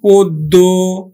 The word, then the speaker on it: পদ্য: পায়, নিয়ম 3 নম্বর, আদ্য অ প্লাস কি পায় যদি জফলা পায় তাহলেও কিন্তু ও এর মতো উচ্চারিত হবে। যেমন দেখো পদ্য, গদ্য, পদ্য, গদ্য, সভ্য, পদ্য, দেখো এখন দেখো পদ্য উচ্চারণ হবে, পদ্য, গদ্য, গদ্য, গদ্য, সভ্য, সভ্য। শিক্ষার্থী বন্ধু লক্ষণীয় জফলা থাকলে